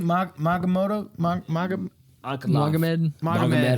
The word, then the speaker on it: Magomed: You're like, How do Johnny you pronounce his Walker. name? Magamoto? Magomed.